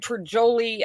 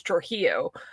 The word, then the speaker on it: Trujillo: I got Trajoli, I got Trujillo, because it was Trujillo.